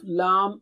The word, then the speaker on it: لَ: Touch the tip of the tongue to the upper gums near the root of the teeth, as you see in the picture.